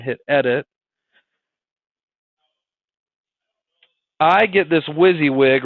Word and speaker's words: WYSIWYG: little toolbar here this toolbar is called a WYSIWYG okay you guys are like what it's called